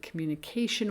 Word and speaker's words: communication: look at the word communication, which I've already broken up into 5 syllables. Communication. Okay, 5 syllables. Notice how mu and k are the stressed syllables.